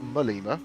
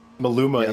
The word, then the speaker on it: Maluma: So we've got Rodriguez followed by Malma, not Malima or Mal Maluma apparently as you were pronouncing it. But Maluma is how you say it. Mima is wrong because Kevin Boss was bullying me for saying Malima.